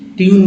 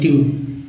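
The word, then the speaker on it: tune: Beauty but में यू को क्या पढ़ते हैं अ, पुट में यू को ऊ पढ़ते हैं, जबकि ट्यून में यू को ई यू पढ़ते हैं ट्यून।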